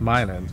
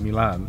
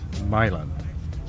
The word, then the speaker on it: Milan: at mil Dragway now uh this is actually pronounced Milan not Milan there's a city called Milan in Italy but the one in Michigan is Milan so we're going to go pay for the